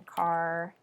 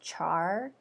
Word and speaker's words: char: other day was saying that car should be pronounced char and then if you pronounce it car you're an abomination and to them i say they are an abomination like char like charmander from char chara like like that method car